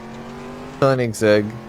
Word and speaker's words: Koenigsegg: Koenigsegg.